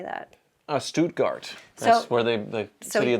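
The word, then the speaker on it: Stuttgart: it looks great I don't know how to pronounce the name how do you say that uh stutgart that's where they the video that they build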